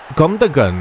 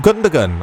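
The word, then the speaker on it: Gündoğan: Oh, it's Gundogan. I can never say his name. The G is silent, isn't it? No, it's not.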